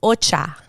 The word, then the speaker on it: ocha: correct ocha in spanish ocha like it's um the mouth will go a little wider when it comes to the a so ocha and that's correct now here are two